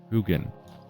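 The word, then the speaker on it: Huginn: one's called is going to forget how to pronounce it now just have to say it uh um it's moonin and who uh hoogan h-u-g-i-n-n uh they are uh represent the uh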